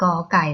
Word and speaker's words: ก ไก่: เสียง ว่า ลัย า ก ไก่ นะ คะ จะ อ่าน ออก เสียง ว่า กอ ค่ะ เผด็จ อ่าน ตาม